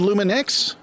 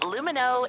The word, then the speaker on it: Lumino: Yeah, you got uh you mean Luminex? It's pronounced Lumino. It's French.